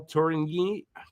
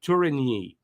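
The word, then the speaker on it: Tourigny: and David Ryan bucker wearing number 36 36 for reinbacher uh Miguel turingi that didn't say it right Miguel turini uh number 93 and William Trudeau number 84.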